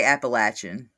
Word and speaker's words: Appalachian: Uh Cassie, do you say Appalachin or Appalachian? I say Appalachin because that's how you say it, right? Like that's correct.